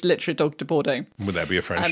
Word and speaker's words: Dogue de Bordeaux: Well, literally as it looks, the dog de Bordeaux. That's how you say it. It's literally dog de Bordeaux.